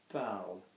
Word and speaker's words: parles: Now there's an S after that, I, as there will be in most you verbs, but we're not going to pronounce it. Why are we not going to pronounce it? Good, because there's no vowel after it.